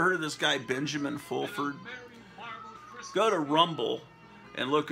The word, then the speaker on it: Fulford: of this guy Benjamin fulford go to rumble and look up Benjamin full I think his name is actually pronounced full Ford he pronounces full Ford f u l f